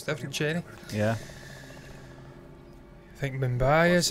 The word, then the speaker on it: Chennai: So it is Cheney.